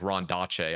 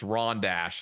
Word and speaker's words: Rondache: people off cuz I was calling it like Rondache. I had no clue what this was. Rondache. But everyone is like, "Jesus Christ, pronounce it right. It's Rondash."